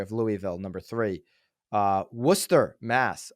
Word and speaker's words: Worcester: Louisville number three uh Worcester Mass a lot of people would read that Worchester it's Worcester it's Worcester Nicole a